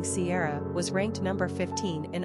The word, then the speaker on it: Ciara: Kiera is another anglicized form of the Irish female name Ciara, generally pronounced the same way.